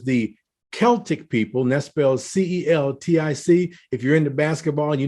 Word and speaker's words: Celtic: 2 000 years the Celtic people Nest spells c-e-l-t-i-c if you're into basketball you know about the